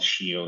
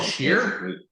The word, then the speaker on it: Scio: we also built, which is called Shio, if you want to take a look at. It's called Shear? Shio, which is a Scala layer on top of Apache Beam. Can you, how do you spell that? SCIO.